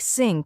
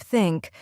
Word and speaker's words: think: like think and this many Learners pronounce it as s or Zed like syn instead of think or Z instead of